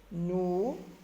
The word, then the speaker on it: nous: Nous, pronom personnel, nous. S, lettre muette.